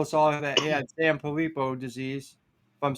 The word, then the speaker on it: Sanfilippo: you had that post where you told us all that he had Sanfilippo disease. If I'm saying it right, is that Yep, Sanfilippo?